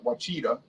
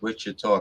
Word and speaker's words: Ouachita: ouachita national forest and my friend paul said the oklahomans pronounce it what cheetah the wachita national forest wasn't pronounced wichita kansas they maybe they have